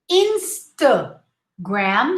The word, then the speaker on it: Instagram: red bull red bull insta gram not close your lips instagram the thus the first a is the schwa oh remember instagram instagram